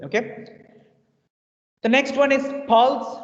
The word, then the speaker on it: Pfalz: The next one is Pulse, not very interesting wine region. That's okay. Its name is Pulse, P-F-L-S, Pulse, not Pulse. Pulse मत बोलना.